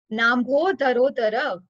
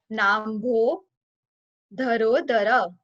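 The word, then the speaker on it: नाम्भोधरोदर: Nambho dharo dhara. It's a little bit complicated, so we'll split it into three parts. Na plus ambodhara plus udara. Nambho dharo dhara.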